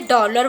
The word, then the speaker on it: डॉलर: ठीक है दोस्तों, इसी प्रकार डॉलर, ये भी सही, ना तो इसका सही उच्चारण है और ना ही इसका सही लेखन है। इसको हम कैसे लिखेंगे? डॉलर बोलेंगे और अर्धचंद्राकार लगाकर इसको लिखेंगे।